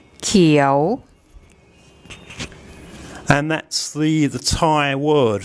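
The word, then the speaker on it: เขียว: Now, if we add one of the K consonants, so we'll have an initial consonant called Kai, and Pom will tell you what that sounds like.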